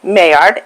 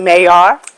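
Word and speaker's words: Maillard: need to do is Google mayard m-a-i-l-l-a-r-d some people I think pronounce it mayor but don't don't Google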